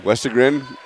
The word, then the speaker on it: Westergren: Over on the west, we got Westergren. Gern? How do you say it? Gren. Westergren. 3-0 over Paul.